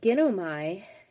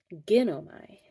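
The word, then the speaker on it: γίνομαι: Whereas ginomai, the accent's on the gin. You become, I become, not you, I. So I know, ginosko, ginomai.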